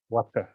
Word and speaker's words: vata: So V in Indian language is pronounced like W, Vata.